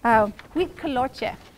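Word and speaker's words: huitlacoche: And it is a delicacy in Mexico, and it is pronounced, I always forget how to pronounce it, huitcoloche. I think that's correct.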